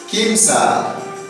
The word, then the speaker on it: kimsa: Entonces, en quechua, ¿cómo se dice 3? Se dice quimsa. Entonces, ponemos el número, la cantidad de papas que tenemos.